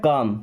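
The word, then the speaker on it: calm: एक वर्ड होता है काम सी ए एल एम काम कारण नहीं पढ़ते हैं सी ए एल एम काम यहां भी एल साइलेंट काम का मतलब शांत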